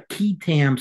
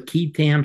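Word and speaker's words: qui tam: a thing called a keam suit have you ever heard of this I have not no a keam is spelled Qi t it's actually based on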